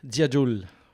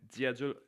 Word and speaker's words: Dziadul: It like basically translates to like old wise man, but my family's from Poland, and Dziadul is pronounced Dziadul over there.